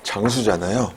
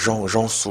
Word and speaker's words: 장수: 그래서 제 이름이 장수잖아요. 제 이름 장수이기 때문에 굉장히 발음하기가 어렵죠. 일단은 발음 없으니까 정수 뭐 이렇게 정수 이것도 오 발음이 우인지 잘 모르고 그랬었는데 요즘에는 구글 때문에 오 두 개 쓰면 우 발음 난다는 거 아는데 제 성도 주잖아요. 근데 조 이렇게도 많이 했고요. 또는 유 이렇게 많이 했으니까 이를 정수 이름도 영수 이렇게 많이 불렀어요.